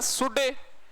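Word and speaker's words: shall: होता है सेल का शुड और विल का वुड शड सेल का शुड नहीं होता ध्यान रखना ले साइलेंट रहता है और शुड होता है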